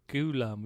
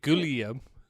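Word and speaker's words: Ghoulam: ghulam you laughing Ghulam Ghulam yeah oh that's how I was poor that's how his parents pronounce it clearly they say we don't pronounce it gooo Liam whoever you said I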